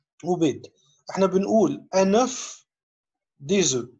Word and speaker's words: œuf: carottes, gazar et des œufs ou بيض. احنا بنقول un œuf des œufs. يعني الاف في السنجولير الاف تتنطق. لكن في البلوريال الاف ما تتنطقش في ليزو.